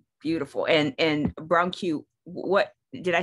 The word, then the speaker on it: Brancu: us your name yeah so it's dr bronco beautiful and and brown q what did i say it correctly say it one more time bronco a bronco bit difficult yes um uh what